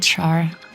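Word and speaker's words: Schär: glutenfree like bread and other gluten-free goats called char which I actually like eat occasionally although it's spelled differently.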